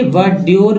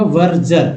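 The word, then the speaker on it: verdure: word meaning है वजर अब देखिए वडर लोग पढ़ते वडर लेकिन इसका उच्चारण होगा वर्जर वर्जर दोस्तों वर्जर का अर्थ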